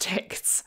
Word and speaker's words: TikZ: seems that it was developed and is maintained by Germans and as such it is pronounced tics apparently a couple of